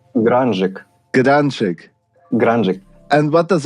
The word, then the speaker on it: Grungik: Okay, I will pronounce it correctly. It's Grungik.